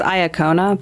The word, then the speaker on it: Iacona: In my head, it's Iacona, but I have no idea if that's right. Okay. Wait for a second. Iacona. You nailed it.